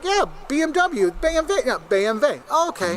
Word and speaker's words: BMW: Nam right so is how it's properly pronounced my American's going to say BMW okay you're like yeah BMW BV yeah BMV okay B you're like what does BMV stand